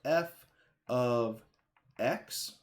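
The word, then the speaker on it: f(x): So this expression right here, it's pronounced f of x.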